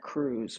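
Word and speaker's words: Kruse: I think his name is Dr. Jack Cruz, but it's spelled K R U S E.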